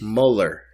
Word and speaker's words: Mueller: Mueller, kind of like it looks like Bueller. Yeah, Mueller. but it looks like you'd say it as Mueller.